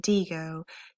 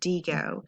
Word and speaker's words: Diigo: your tutorial on how to use the website Deo to save websites that you're going to need